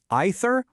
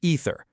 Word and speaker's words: either: Is it pronounced either or ether? Well, the great news is both are perfectly correct.